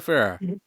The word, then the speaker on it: Ferrer: Miguel Ferrer.